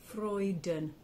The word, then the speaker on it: Freuden: and eat freuden f-r-o-y-d-u-n freuden it's um what we call the schwa vowel and it's a it's like u-h um so when you have e n in German it's this schwa vowel which is uh so